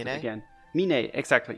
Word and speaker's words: Meene: So I already forgot how to pronounce it again. Meene, exactly, Meene.